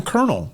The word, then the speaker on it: Colonel: Who knew there wasn't an R in Colonel?